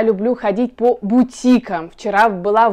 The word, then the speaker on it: бутик: из французского языка и как во всех французских словах ударение падает на последний слог то есть бутик и внимание и ударение